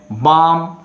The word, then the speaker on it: balm: Balm, L letter silent.